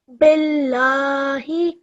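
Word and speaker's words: بالله: just before the word then this lump becomes a thin sound so when we read this bill nighy billahi well done now remember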